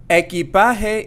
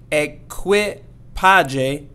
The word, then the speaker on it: equipaje: Equipaje. Equipaje means luggage. Equipaje. And make sure we don't say equipaje, so it's not going to be equipaje, but equipaje.